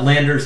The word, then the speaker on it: Landr: is amazing right uh landers more of like 15 a month lander spelled with no e so l-a-n-d-r dot com i've used both of